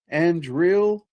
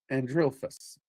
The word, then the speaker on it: Andrealphus: But it is ANDREALPHUS. ANDREALPHUS is how I most often hear it pronounced.